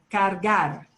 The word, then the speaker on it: cargar: Cargar. Cargar. Cargar. And it's important to pronounce both R's. Cargar. If you drop the first R, it's a nasty word.